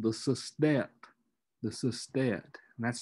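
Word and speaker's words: sestet: octave the final six lines are called the system the system that's spelled s-e-s-t-e-t the system and that's when usually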